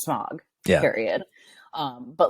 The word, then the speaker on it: Smaug: Smaug. Nobody would ever pronounce it that way. It's Smaug.